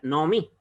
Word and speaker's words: Naomi: Por eso se pronuncia Naomi. Se dan cuenta que al ser compuesta reducida, la O debajo de la Ain suena más corta, más reducida, en comparación con las anteriores, como por ejemplo Lot, o Lo, o Noaj, ¿ya?